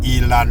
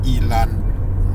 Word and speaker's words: Elon: this video and there's a reason why I pronounce his name Elan m in the first video and now in this video we're going to provide pronounce his name correctly which is Elon MK m is Mass information Mass controlling the